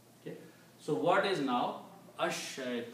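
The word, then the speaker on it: الشيطان: So instead of pronouncing lam, you pronounce sheen two times, and it becomes ash shaytanu. Ash shaytanu. Right? You don't pronounce al shaytanu, even though the word is al. But lam becomes silent.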